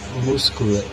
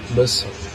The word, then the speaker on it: muscle: Por exemplo, a palavra muscle, que é músculo em inglês, não se pronuncia muscular, se pronuncia muscle.